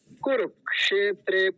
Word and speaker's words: कुरुक्षेत्र: अगला वाला जो है कुरुक्षेत्र कुरु कुरु कुरक कुरु के बाद क बोलेंगे फिर क्षेत्रे कुरुक्षेत्र ठीक है और एक सावधानी